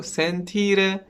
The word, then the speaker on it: sentire: And well, the stress is on I before R, so sentire means to feel, and well, for the